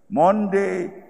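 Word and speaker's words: Maundy: Ang spelling, M-A-U-N- D-Y, Monday, Thursday. Kanang sound nga Monday, Thursday, why? Ages, ancient practice, Huwebes Santo, Monday, Thursday, gikan na sa pulong nga Latin, mandatum, sa English pa, direction,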